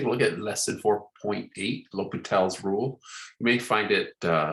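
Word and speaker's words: L'Hôpital: Okay, let's take a look at lesson 4.8, L'Hopital's rule. You may find it, some people call it hospital's rule. Some people spell it with an S, but L'Hopital, French. So we'll go with that, what our textbook goes with.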